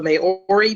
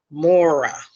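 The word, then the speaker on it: Māori: conference here this morning she told me that it was really pronounced Maura which my tongue definitely is not used to saying it that way so please forgive me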